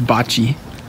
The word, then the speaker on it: bocce: this game before so the name of the game is Bucky ball and it's pronounced bocce it's a bocce ball